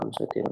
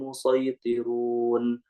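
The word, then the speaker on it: المصيطرون: Jadi dibacanya menggunakan shad dulu, nanti cara yang kedua baru menggunakan sin. Am indahum khazainu rabbika am humul musaytirun. Am humul musaytirun.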